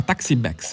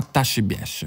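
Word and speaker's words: Ta' Xbiex: La zona dove ci troviamo si chiama Taxi Bex e penso si pronuncia in realtà Tashi Biesh.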